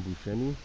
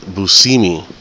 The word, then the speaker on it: Buscemi: See, everybody calls him Buscemi. I've seen a documentary with this guy, and he said that he pronounces it Buscemi. So I don't know if you guys know that, but if you see him, don't call him Buscemi.